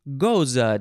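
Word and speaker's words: Gose: International Happy Goza Day. And that is Goza, the beer. It's like a beer. It's related to beers. G-O-S-E.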